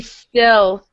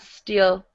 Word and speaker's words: still: So it should be still, not steel. Steel. Think of the word set. Set.